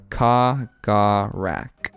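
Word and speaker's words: Kahgarak: It is pronounced Kagarak. Kagarak. Kagarak. Ugh. Kagarak, that's what I'm calling them. Kagarak.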